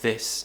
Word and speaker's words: this: They might say dis instead of this.